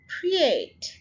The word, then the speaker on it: create: Create, create. So यहाँ पर basically ये one syllable word ही है. It's not two syllable word.